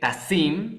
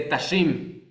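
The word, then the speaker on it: תָּשִׂים: A ver, se pronuncia, por ejemplo, vamos a decir que está pronunciando mal la shin y la está pronunciando como sin, que es un error muy común confundir la shin con la sin, ¿no? Entonces, por ejemplo, en lugar de pronunciar eh tasim, que significa poner, dice tashim, ¿no?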